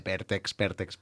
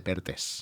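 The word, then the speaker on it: Perthes: Llavors jo després vaig dir, jo deia enfermedad de Pértex, fins que un metge molts anys després va dir, ¿quieres decir enfermedad de Pertes?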